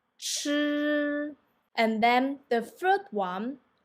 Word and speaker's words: 吃: Okay, and then the second one will be 吃吃, and then the third one 诗诗.